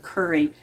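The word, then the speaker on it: kuri: This is a red curry squash, and it's spelled K-U-R-I, curry.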